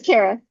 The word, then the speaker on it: Cara: Yes, it's Cara.